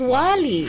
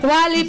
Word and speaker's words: Wālī: Kinorrection niya actually yun sa interview natin it's pronounced as Wally. Ah wali. Ah si Wally Viola. Ay sorry okay Wally pala naku dapat mamaya na lang para may suspense na.